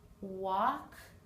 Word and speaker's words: walk: now the unexpected sound all of these four words have a silent L talk walk half calf the L is not pronounced in any of those words I will meet you